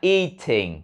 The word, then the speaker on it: eating: Nếu muốn nói là eating thì cũng phải kéo dài cái âm y cho nó tròn âm rồi mới phát âm thờ.